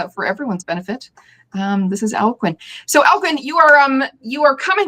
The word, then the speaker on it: Alcuin: And for everybody who's watching, that's how you say it, Alcuin, in case anyone was wondering.